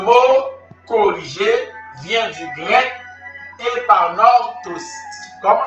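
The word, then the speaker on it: epanorthosis: Le mot corriger vient du grec épanortosis. Comment s'écrit épanortosis?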